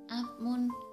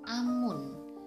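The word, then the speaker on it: 앞문: Untuk contoh yang ketiga adalah apmun. Seharusnya dibaca apmun, tapi salah. Yang benar adalah dibaca amun.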